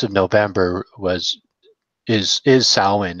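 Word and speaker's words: Samhain: butcher it a little bit and call called salween or Sal when but yeah in in in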